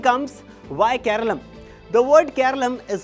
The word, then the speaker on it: Keralam: The word Keralum is how the state has traditionally been pronounced in Malalam.